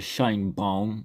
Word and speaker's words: Sheinbaum: Mexican president Claudia Shin bong I think that's how her name is pronounced sounds kind of German to be honest agreed to send 10,000